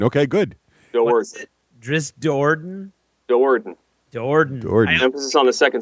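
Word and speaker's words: Do'Urden: Well, Dorden. Okay, good. Dowarden. Drisdorden? Dowarden. Jordan. Emphasis on the second syllable.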